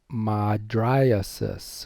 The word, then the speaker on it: mydriasis: Dilator pupillae causes mydriasis, or I call it mydrosis. But mydriasis is the best way to pronounce that if you haven't already learned that in your head.